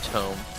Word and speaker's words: tome: I think I'm pronouncing it wrong. I don't think it's tomb. I think it's tome.